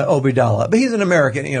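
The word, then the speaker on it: Obeidallah: How do you pronounce his last name? Obidallah.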